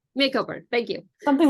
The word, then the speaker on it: Macomber: how to say it oh yeah tell me makeover makeover thank you something like that yeah I've been